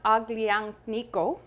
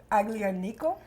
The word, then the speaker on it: Aglianico: Campagna Aglianico from the south of Italy. Aglianico.